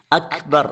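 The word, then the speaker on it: أكبر: ഒരു വിശേഷണമാണ് ഹംസ് അതായത് ഈ അക്ഷരം ഉച്ചരിക്കുമ്പോൾ ശ്വാസം കാറ്റ് പുറത്തേക്ക് പോകണം അപ്പൊ ആ രൂപത്തിൽ അല്ലാതെ കാഫ് പറഞ്ഞാൽ അത് ശരിയാകില്ല അക്ബൽത്തു എന്ന് വായിക്കാൻ പറ്റില്ല അള്ളാഹു അക്ബർ അല്ല അക്ബർ അക് ആ ഒരു കാഫിന്റെ ഉച്ചാരണത്തിൽ ചെറിയ ഒരല്പം ശ്വാസം പുറത്തേക്ക് പോകണം ആ രൂപത്തിൽ പറഞ്ഞാലേ കാഫ് ആവുകയുള്ളൂ അക്ബർ അള്ളാഹു അക്ബർ അങ്ങനെ ചെറിയ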